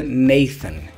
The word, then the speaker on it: Nathan: Brasil tem esse nome a gente geralmente pronuncia Nathan em português né Nathan em inglês que seria neison neivison beleza bom agora foram